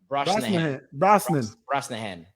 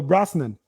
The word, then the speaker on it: Brosnahan: Brosnahan. No, they probably go Brosnan.